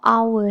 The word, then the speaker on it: hour: u okay except for our here we don't say uh our i need our no we say i need n our y because the pronunciation itself it pronounce our okay that's why we say